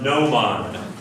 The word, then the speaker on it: gnomon: Gnomon, yes. A gnomon, like new, nice.